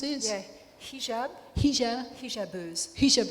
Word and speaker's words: Hijabeuses: Forgive me, I speak more Spanish than I do French, so Les Hijabouses, is that how you pronounce it? Yeah, hijab. Hijabeuses.